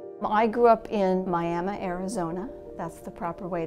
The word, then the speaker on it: Miami: I grew up in Miami, Arizona. That's the proper way to pronounce it.